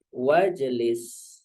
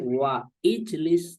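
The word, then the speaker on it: واجلس: depannya itu ada w ya maka bacanya langsung wajlis ya bukan wa ijlis tapi wajlis yaitu sebagai gambaran kembali ke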